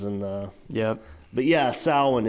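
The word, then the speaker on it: Samhain: uh yeah but yeah salwan is is how it's pronounced but uh yeah so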